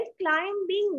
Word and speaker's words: climbing: හැබැයි climbing නෙමෙයි climbing. B ශබ්ද නැහැ. B එක silent word එකක් වෙනවා. Silent letter එකක් වෙනවා ඒ වචනේ.